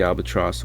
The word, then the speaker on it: albatross: Abrams notes that Coleridge imbues the albatross with a, quote, quasi-divine quality, transforming it into a moral and symbolic centerpiece. The word alba means white, and tross is a rhyme with cross.